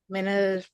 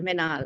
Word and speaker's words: Minhal: I think um, Minal or Minal, I'm sorry. Yeah. Saying your name wrong. Covered it well. Covered it well, Minhal.